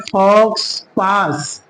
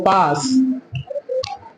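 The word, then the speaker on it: faux pas: लीजिए इसको क्या पढ़ेंगे लिखा क्या है फॉक्स पास लेकिन इसको हम पढ़ेंगे क्या हो पास क्यों व भी यह जो एक्स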